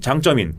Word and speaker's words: 장쩌민: 상당한 그 소재를 과시한 장쩌민 강태웅 민 우리 갈 그 문민정부 때는 강 태 민 이라고 했는데 이후에 이제 이 용어를 중국 사람들이 하는 발음으로 하자 그런 것처럼 이미 됐어요